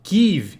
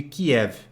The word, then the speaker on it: Kyiv: Agora, todos os noticiários americanos, eu escuto normalmente noticiários de língua inglesa, só pronunciam Kyiv em vez de Kiev.